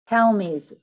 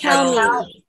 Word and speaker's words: Kalmus: Kalmus. It's Kalmus. Cal is in California, me with a high Z sound at the end.